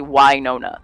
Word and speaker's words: Wynonna: it's not Winona like Winona Ryder. It's actually Wynonna.